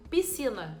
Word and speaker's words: piscina: exemplo eu tenho piscina piscina tem SC mas eu não escuto barulho do SC eu escuto como se fosse uma letra Só piscina como se fosse com c piscina a gente não fala piscina se você fala pode parar porque não tem que falar É piscina mesmo aqui no Rio a